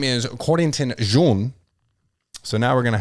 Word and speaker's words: Jean: This is more of your traditional French pronunciation, Jean.